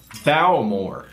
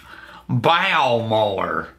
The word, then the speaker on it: Bowmore: you B all right it's bore oh or bore no bow more it's bow more I love me some